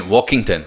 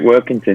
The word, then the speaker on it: Workington: well, you joined Walkington, am I saying, or Workington? Well, how do you pronounce them? Walkington? Yeah, you're second time. Yeah, you're right, Workington.